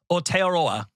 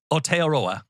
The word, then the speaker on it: Aotearoa: I went to the official pronunciation guide from New Zealand government several times. I believe it's Aotearoa. So I believe it's Aotearoa.